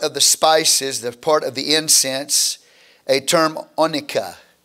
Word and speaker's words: onycha: If you look at verse 34 again, you will see a part of the spices, the part of the incense, a term onycha, O-N-Y-C-H-A, onycha.